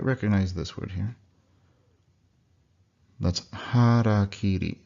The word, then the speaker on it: harakiri: That's harakiri. Harakiri. Forget what people have said in English. It sounds nothing like that.